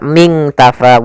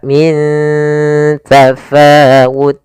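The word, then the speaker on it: من تفاوت: Cara membacanya nunnya disamarkan ke huruf ta. Bukan dibaca ming tafaw tapi dia min ya ikhfanya langsung kata min tafaut.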